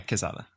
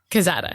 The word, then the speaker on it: Quezada: He is a producer on Veep and The Good Place, Quezada. Yeah. Did I say Quezada right? You did. Okay. You said that pronunciation right. Wait, you say it then. No, yeah, Quezada. Quezada.